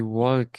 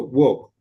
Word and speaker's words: walk: He walked it uh into the room. Into the room. Okay. Remember here these two letters are pronounced like O. So, walk walk walk walk work walk it walk.